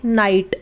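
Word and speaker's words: night: उसे हम नहीं पढ़ेंगे यानी की उसे हम साइलेंट रखेंगे यानी उसका इस्तेमाल नहीं होगा जैसे नाइट और आई जी हा टी नाइट तो यहां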